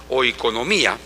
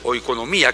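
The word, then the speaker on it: οἰκονομία: En este en griego la palabra es oiconomía, muy parecida a la hora de pronunciarlo en economía, pero es oiconomía, que es la palabra que se traduce este como dispensación.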